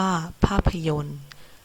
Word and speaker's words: ภาพยนตร์: เช่น ราชการ อ่าน ว่า ราชการ ภาพยนตร์ อ่าน ว่า ภาพยนตร์ คณิตศาสตร์ อ่าน ว่า คณิตศาสตร์ เรา จะ เสร็จ